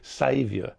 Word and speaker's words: Xavier: But in the last game against Brisbane, I thought, okay, now I know how to pronounce his first name. It's Xavier, because he saved Sydney with his performance.